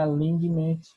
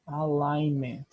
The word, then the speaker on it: alignment: Não é alignment, é alignment. A gente não pronuncia esse G, né?